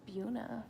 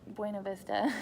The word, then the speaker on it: Buena Vista: So those are closer, but then I was going to say BV, it's Buena Vista, so don't say it wrong to people that live there. It's Buna for them, but Buena Vista.